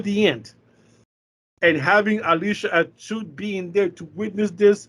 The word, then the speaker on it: Atout: It's Alicia Atout.